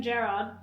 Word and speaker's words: Gerrard: Ask Alex if he would rather have Steven Gerrard play for Everton.